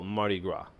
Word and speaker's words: Mardi Gras: And I think I talked about this a little bit before, but it's Mardi Gras. So just be careful, even though there's an S here, do not pronounce the S. So Mardi Gras.